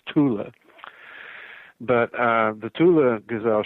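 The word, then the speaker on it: Thule: mispronounced right fo it's it's not th in German it's Tula but uh the Tula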